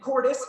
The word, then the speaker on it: Cordes: I'm on my knees to the sacrament, where the gallant Quinones, Fortunato, Lopez, Luis, and Cordes, rhymes with goddess, all pull strings behind